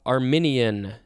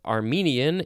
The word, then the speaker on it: Arminian: an armillary sphere all right next we have arminian it's not armenian it's arminian this is an adjective from 1617